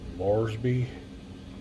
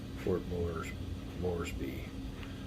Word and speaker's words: Moresby: How do I pronounce that? Moresby? Moresby. Port Moresby.